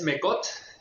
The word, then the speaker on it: Mecott: ¿Cómo se pronuncia su apellido y de dónde es? Pues mira, es Mecott y dice la leyenda que viene de Francia,